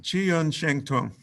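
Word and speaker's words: 气韵生动: So the say it one more time so I can learn how to pronounce it. Qi Yun Sheng Tung. Qi Yun Shen Dong.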